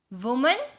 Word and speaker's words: women: फिर गूज, गीज, वुमन और विमेन, इसके प्रोनाउंसिएशन में चेंज है। ये WOMAN को हम वुमन बोलते हैं और WOMEN को हम विमेन बोलते हैं, वुमन और वीमेन।